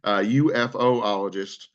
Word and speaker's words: ufologist: UFOologist. I was trying to originally kind of blend the letters together and sound them out, but UFO makes more sense.